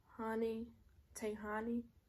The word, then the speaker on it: Tayhani: And her name is Tayhani. She said it's spelled like Tay Honey, but I be watching her too, and I like her vibe.